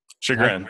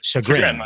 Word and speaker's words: Chagrin: And then obviously what we're learning here today is off of that book is the, am I saying it right? The Chagrin? Chagrin. Chagrin. Chagrin. I got to get that.